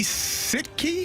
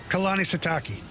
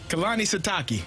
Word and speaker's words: Kalani Sitake: Is it Kalani Sitke? How the hell do you say his name? Kalani Sitake. Kalani Sitake.